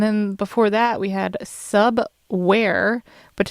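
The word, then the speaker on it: Subwvre: before that we had sub ware but it's print it's uh spelled uh instead of w-a-r-e it's w-v-r-e but pronounced sub-where the song called oregon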